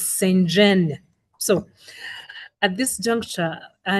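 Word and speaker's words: Psenjen: And she told me it is Senjen. So at this juncture, our next speaker is Evelyn Senjen.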